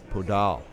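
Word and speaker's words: Podull: on our toes now how do you pronounce that name podal no podal podal podal so practice so p o d u l l p o e- d l l okay portal podal like poodle yeah but with an O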